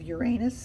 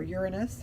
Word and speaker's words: Uranus: so here we have Uranus for the fool or Uranus however you prefer to pronounce it either way is the